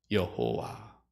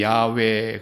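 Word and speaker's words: 야웨: 했어요 여호와 이렇게 썼어요 여호와 본래는 이제 히브리 발음으로는 야외 그러는데 그 야외를 영어 성경에서는 지오바 이렇게 되죠 여호와 이렇게 모음을 붙여 가지고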